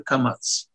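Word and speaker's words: קמץ: А «камац» произносится, немного сжав губы. Поэтому это «а», которое немного ближе к «о».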